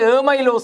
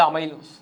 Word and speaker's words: அமைலோஸ்: அதை உச்சரிக்கும் போது வினாபத்திரத்தில் ஏமைலோஸ் என்று போடுவார்கள். அது அமைலோஸ்.